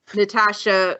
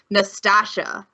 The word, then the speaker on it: Natasha: a power top of Natasha who for some reason Schwartz Bruder can't say her name right in the dub and called her calls her Nastasia and I'm like and